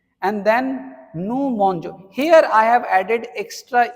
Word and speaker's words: mangeons: But if you are writing like this GE, it becomes je. So the right pronunciation would be nous mangeons. And if you don't give this E, if you write like this mongon, this will be pronounced as mongo, and that is wrong pronunciation.